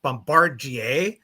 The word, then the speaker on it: Bombardier: It's Gripen and it's Bombardier.